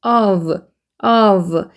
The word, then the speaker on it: of: 그 다음에 O하고 F 있는 얘들은 발음이 삼각기호 발음의 V 발음이에요. F가 있는데 F 발음이 아니라 V 발음인 거에 유념하시고 of 삼각기호는 이 모양 삼각형 발음 어이기 때문에 어를 빨리 읽고 V 발음으로 넘어가면 되는데 V 발음은 아랫입술에 윗니를 물고 으 소리 들어가면서 이게 좀 밀면서 진동 떨리는 소리가 나는 게 of 이렇게 되거든요.